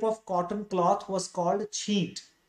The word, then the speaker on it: छींट: चीन्स चीन्स और इनको अगर हिंदी में प्रोनाउंस करें तो इनको छींट कहा जाएगा, छींट, लाइक दिस।